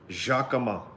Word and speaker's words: Jacquemin: We in America, in France, there's no T, and last name is pronounced Jacquemin.